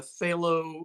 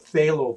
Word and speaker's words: phthalo: the blues you use ultramarine and then the phthalo cyanide below cyan on blue short term they some of the some of the makers just call it phthalo blue t-h-a-l-o but it's spelt something like p